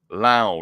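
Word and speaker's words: Lowe: a pair of runs Brandon Lao rhymes with now three base hits three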